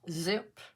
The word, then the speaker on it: XYP: to be doing onomato hybrid xyp which is pronounced zip canes and or leak and they're all by